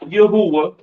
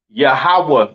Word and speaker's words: Yahweh: So Lord in all caps, being God's name, is Yahweh in the Hebrew. All right. Yahweh is not Yahuwah.